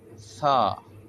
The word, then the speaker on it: ث: தா தா சா சா சா வந்து நாவின் நுனி முன்பல்ல கீழ் பகுதியில் படுவதினால் வரும். சா சா தா பா தா அலிப் தா தா சா தா சா பா சா அலிப்.